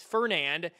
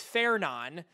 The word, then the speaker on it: Fernand: The next name on the list is FER NAD. You think it's Fernand, it's not. It's Feron.